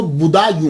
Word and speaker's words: بدایوں: گے، مسلمان بھی ہیں۔ اس کا تلفظ جو ہے وہ بدایوں ہے، کیونکہ یہ پرنس بوڈا جو ہے نا، اس کے نام کے اوپر اس سے یہ منسوب ہے، تو اس لیے اس کو بدایوں کہا جاتا ہے۔ لیکن بعد